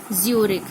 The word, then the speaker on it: Zurich: ज्यूरिक, ZURICH, the pronunciation is ज्यूरिक।